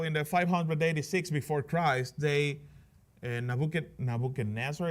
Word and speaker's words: Nebuchadnezzar: Nebuchadnezzar is how you say it in English, right?